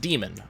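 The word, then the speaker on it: daemon: But apparently it's actually pronounced demon, which, whatever.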